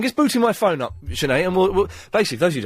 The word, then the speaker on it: Sinead: Sinead? Hello. How do you say your name? Shine. Sinead?